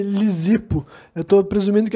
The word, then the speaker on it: Lisipo: que esse cara que é lisipo tô assumindo que é lisipo que se pronuncia é